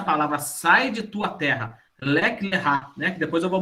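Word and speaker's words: לך לך: Lek lerá, né?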